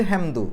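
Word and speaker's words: حمد: ദാലിന് സുക്കൂൻ ഇട്ടിട്ടാണ് നിർത്തുക ദാലിന് സുക്കൂന് വരുമ്പോൾ അത് കൽക്കലത്തിന്റെ അക്ഷരം ആയിട്ട് മാറും അപ്പൊ കൽക്കലത്തിന്റെ അക്ഷരത്തിന് സുക്കൂന് വരുമ്പോൾ അതിനെ എടുത്തു പറയണം പെട്ടെന്ന് തൊട്ടുവെച്ച് പോയാൽ പോരാ ഹംദ് ദ്ര ഹംദ് എന്നുള്ള ദാലിന്റെ സുക്കൂന് എടുത്തു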